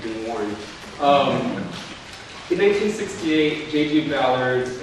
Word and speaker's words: Ballard: Ballard's A New Wave Ballard, or Ballard. If you want to say it right, you say Ballard.